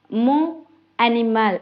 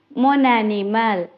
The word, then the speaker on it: mon animal: இது வந்து நாங்கள் இப்போ தனியே பிரித்து கதைக்காம மோ அனிமல் என்று அப்படி கதைக்காம மொன் அனிமல் என்று சேர்த்து கதைக்கணும். வூ அவே என்று கதைக்காம வூஸ் அவே என்று சேர்த்து கதைக்க பழகணும்.